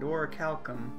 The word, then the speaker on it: orichalcum: Oh, that's how you pronounce that word, orichalcum.